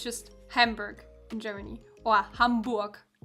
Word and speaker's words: Hamburg: after the city uh a lot of Americans pronounced really weird at least for a German speaker they say like Hamburg Hamburg um but it's just hambur kind of have